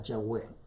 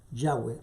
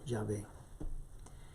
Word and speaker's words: Yahweh: Los eruditos consideran que es el equivalente a Yahweh, Yahweh o Yahvé. Esta es la forma correcta de reproducir su nombre.